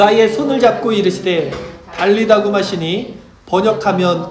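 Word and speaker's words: טליתא קום: 달리다고 많이 아셨죠? 이게 아람어인데 원어로 그대로 말씀드리면 탈리다쿰이래요. 발음이.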